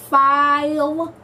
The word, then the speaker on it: Philo: So, it's pronounced Philo. Oh, Philo p h i l o.